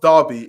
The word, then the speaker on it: Derby: Derby, pronounced Derby, is a city and unitary authority area in Derbyshire, England, pronounced Derbyshire.